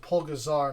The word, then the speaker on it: Pulgasari: and then after that it's pazari p u l g a z a r y but I've even seen them pronounce it just po gazar now uh I don't